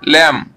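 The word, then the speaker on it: lamb: এ এম পি ল্যাম্প, এল এ এম বিতে কিন্তু be silent, আমরা এই পড়ে এলাম এখানে, তাহলে এল এ এম বি ল্যাম্প, এটি ল্যাম্প এবং এটি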